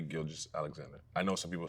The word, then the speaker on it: Gilgeous: healthy, they can definitely How do you pronounce Sheay Gil Alexander? Well, Shay, Gilgous Alexander. I know some people say shy. It's It's definitely Sheay. The confusing part is probably the Gilg. So, it's Gilgous.